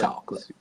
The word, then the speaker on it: Chawkolate: I had it on my Instagram live story yesterday, and it's spelled CHAWKOLATE, chocolate. Like chalk, as in raw, chocolate, syllable sound.